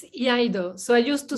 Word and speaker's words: Iaido: How do you pronounce it? Iaido? It's Iaido.